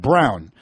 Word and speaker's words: Braun: my name is pronounced brown BR aun is the spelling of his name and he says my name is pronounced brown like the color not broad not brawn like Lloyd Braun right why can't to